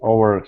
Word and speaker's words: over: to the word over give me a good V sound way over his left